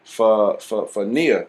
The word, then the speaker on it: Nia: It's called Nia.